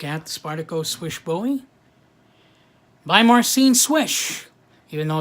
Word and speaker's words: Slysz: Spartacus wishbone by Marcin swish even though it's spelled s ly as Z it's actually pronounced swish s WI s H so let's take a